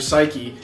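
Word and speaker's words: Saiki: They pronounced it was how they pronounced my name.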